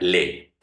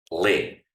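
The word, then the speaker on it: lait: Se escribe así, light, se va a pronunciar le, pero eso es una regla de pronunciación. Cuando tengas en francés la a y la i, eso se va a pronunciar como una e.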